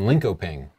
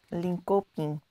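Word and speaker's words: Linköping: and we can't trust him he lives in linkoping I nailed that pronunciation I just already know that I got that right no it's linkoping like that leing loping look at this picture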